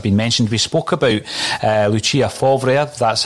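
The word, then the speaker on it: Lucien Favre: We spoke about Lucia Favre, that's how you pronounce it, Declan, former Borussia Dortmund manager.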